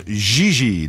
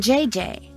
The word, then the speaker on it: Gigi: g JJ Alphonse a you pronounced G like J and J like G she may very well be JJ in America but in France she is she she calls herself JJ though it's kind of